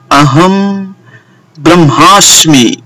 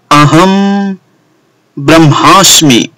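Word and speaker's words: अहं ब्रह्मास्मि: इसे मैंने डिस्प्ले में भी दिया है और इसका उच्चारण है अहम ब्रह्मास्मि। फिर से सुनिए, अहम ब्रह्मास्मि।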